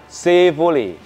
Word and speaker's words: Chevrolet: ini apa Pakde saifule jadi tulisannya Chevrolet Tapi bacanya Yang benar sifully si bully sepole 1962 ini baru dibeli dalam